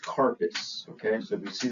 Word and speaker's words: carpus: So when we talk about the wrist in Latin terms, it it is pronounced carpass.